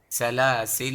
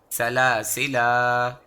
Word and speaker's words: سلاسلا: ہیں اور اس میں سلاسل و اغلالا پڑھیں گے۔ اگر ہم مسلسل تلاوت کرتے رہے تھے اور یہاں رک گئے تو ہم اسے الف کے ساتھ تلفظ کریں گے اور یہ سلاسلا پڑھیں گے۔